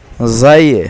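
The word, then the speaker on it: زاي: নিলাম এখন চলে যাচ্ছি জাইয়ে আমরা অনেকে ঝা বলি তবে মূল নাম হচ্ছে জাই জাই পেশ জু জাই জবর জা যাই জের জি জু জা জি যাই দুই পেশ জুন জাই দুই জের জিন জাই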